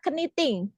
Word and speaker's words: knitting: Ini tulisannya knitting, ya kan? Knitting. Iya. Ini juga sama, silent. Huruf K-nya itu silent.